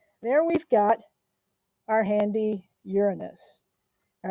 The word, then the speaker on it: Uranus: it's the seventh planet uranus and we do say it like that because otherwise there are so many jokes um we know most